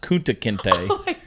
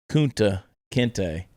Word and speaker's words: Kunta Kinte: But not realizing that it's pronounced Kunta Kinte.